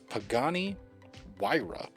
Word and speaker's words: Pagani Huayra: heard of it I didn't remember how to pronounce it at all Pagani Huayra not how I would think to pronounce it